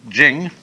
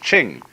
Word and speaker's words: Ching: it's pronounced de, and Jing, there is no apostrophe after the CH, so if there were it would be pronounced Ching, but it's Jing, like a J.